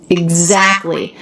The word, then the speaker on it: exactly: interesting word we have the letter x that always makes two sounds in this case eggs G and z exactly then we have a k the letter c makes k t l y so when t comes between two consonants it's really common in American English to drop it and that's what he